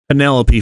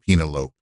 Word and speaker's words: Penelope: We get a returning cleared to wrestle Penelopey Ford. It's pronounced Penalope.